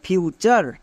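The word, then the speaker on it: future: এর পরে ইউ আছে তার মানে টি এর জন্য চ হবে যেমন ফিউচার এফ ইউ ফিউ টি ইউ আর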